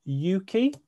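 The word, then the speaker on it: Ukie: in the uk they you could pronounce it as yuki so it stands it's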